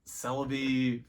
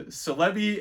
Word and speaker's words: Celebi: these are real so there is no official pronunciation and Celebi and Celebi are both phonetically correct as far as I'm concerned Patrick Day says would